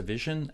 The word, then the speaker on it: vision: And how do you pronounce it? Vision. Stress goes in the first syllable, and then the second syllable gets no stress, so it's short.